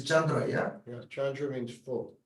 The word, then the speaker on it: Chandra: Really, that's But we pronounce them the Tibetan way, so. yeah, I know. So is it Chanda, not Kanda, as written?